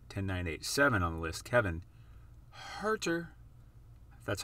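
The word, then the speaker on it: Kevin Huerter: card number what 10987 on the list kevin harter that's how you say his name 2018 prism silver pop count of only 268.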